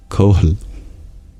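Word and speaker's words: kohl: lined with coal or how do I pronounce this coal there an H before the L and with an in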